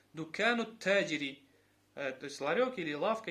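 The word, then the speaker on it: دكانُ التاجرِ: После нун идет сразу ударение на та. Дукану таджири.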